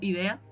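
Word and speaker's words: Edea: Idea escrito, pero lo pronuncian como Idea.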